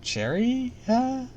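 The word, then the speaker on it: Cherryh: e r r YH Cherry Cherry with an H just Cherry with an with an extra H at the end I should that's weird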